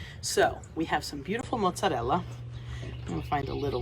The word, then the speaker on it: mozzarella: isn't it beautiful mozzarella learn how to roll your rs it just sounds so much better when you say mozzarella instead of mozzarella or if you're in